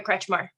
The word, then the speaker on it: Kretchmar: my name is kretchmar okay and we're present today and we'll be ready to move forward with a plea today okay and you pronounced that last name kretchma stretch mark that's correct thank you and Mr